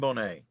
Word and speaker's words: Bonet: Is it Julian Bonek or is it Julian Bonet? Let's go with Julian Bonet.